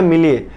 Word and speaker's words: milieu: तो इसको बोलते हैं मिले, ठीक है, मिलिए। मिली ई में ई लगा देते हैं, मिले।